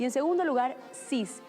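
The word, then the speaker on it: six: Y en segundo lugar, 6 y 10, aunque se escriben con X, se pronuncian 6 y 10, como si fueran escritas con S.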